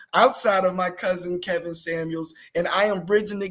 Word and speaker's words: Samuels: spelled my name wrong there is a S at the end of Samuels it's not Brethren Samuel you see that S